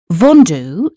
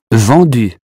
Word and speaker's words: vendu: Vendu is another word lots of us get wrong. Here's how Félix says it. Vendu. Again, the sound U sounds like the U in hue after you drop the H and you keep the airflow.